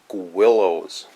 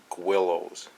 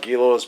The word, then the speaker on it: Guillows: so first off you know I know it's pronounced Willows that is pronounced Willows I call it Gillis because that's what we called it at the